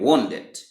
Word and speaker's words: Wundt: Ça veut dire, c'est bon, c'est son nom en anglais, et il est prononcé en anglais, c'est W-U-N-D-T, c'est Wilhelm Wundt, ok?